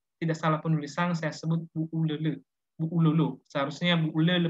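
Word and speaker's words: Bu'ulolo: Bacanya sebenarnya bukan Bu Ululu, tapi Bu Ulele.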